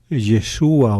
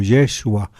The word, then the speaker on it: Yeshua: Yeshua o Yeshua, como pronunciaban, recuerdo yo mucho en arameo, los actores que en